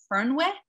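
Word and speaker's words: Fernweh: gonna say it right i know how to spell it it's spelled f-e-r-n-w-e-e-h and i think it said fern with and it basically means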